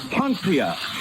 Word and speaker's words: Poncia: Poncia.